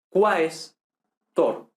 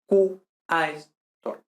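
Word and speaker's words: quaestor: Entonces, por ejemplo, questor, tenemos aquí questor, se divide como cuestor, no como qestor, ¿vale?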